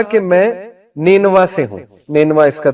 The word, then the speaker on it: نینوا: تو ادرس نے کہا کہ میں نینوا سے ہوں۔ نینوا اس کا تلفظ ہے NINEVEH۔ نینوا جو ہے یہ عراق